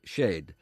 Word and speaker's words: shed: A listener rings in search of a garden shed, here pronounced shade.